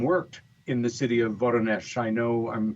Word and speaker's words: Voronezh: It was in 1989, and it was the Voronezh incident.